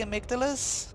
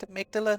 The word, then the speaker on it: amygdala: But either way, those things are called the amygdalas. The actual word is pronounced amygdala, not amygdala.